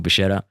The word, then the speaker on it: Bascetta: Uh I'm your host, Leon Kennedy, and with me today is my business life partner, Michael Bashetta. Nailed the pronunciation on your surname.